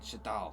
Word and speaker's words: Shadal: How do you pronounce his name? Shadal? That's the one, Shadal. See, where was I getting a J from?